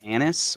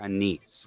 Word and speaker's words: anise: and it's it's actually you can say it anise or anise it's kind of like what's the proper formal way either one oh okay if you go go to pronunciation on google it'll tell you either one is proper because we don't speak